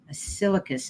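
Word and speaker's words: Ascillicus: and my name was a-s-c-i-l-l-i-c-u-s silicus is how it's how she's pronounced it but she said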